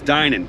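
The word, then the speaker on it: Dinan: then everybody always tells me, oh no, it's Danan, it's definitely Danan. It's not Danan, it's Dynan.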